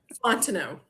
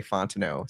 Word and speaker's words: Fontenot: How do you say your last name? Fontineau. Fontineau. Okay. Not in a million world world a million tries would I say Fontino.